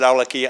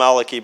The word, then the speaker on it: al-Awlaki: But in Yemen, his family and so on pronounce it Awlaki, Anwar al-Awlaki. And so I just got in the habit, so I call him Awlaki, but he's the same guy.